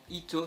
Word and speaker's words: Hit: Aujourd'hui on se retrouve pour une nouvelle théorie sur Dragon Ball Super et plus spécialement sur Hit, à savoir donc Ito si on prononce à la japonaise.